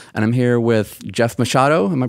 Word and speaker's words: Machado: Today, I'm back at my studio, volume 11, and I'm here with Jeff Machado. Am I pronouncing that correctly?